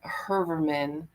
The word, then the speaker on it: Heuermann: It's like that, I guess, is the correct pronunciation, but I guess as children, um, we call them Herman.